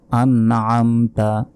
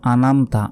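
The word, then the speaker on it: أَنْعَمْتَ: হবে মানে এক সেকেন্ড টেনে পড়তে হবে সিরাতাল্লাজিনা আনআমতা আনআমতা আমরা অনেকে বলি আনমতা আনামতা নয় বলতে হবে আন আমতা আন আমতা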